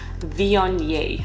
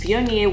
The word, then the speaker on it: Viognier: Viognier. I will put the pronunciation on the screen right now.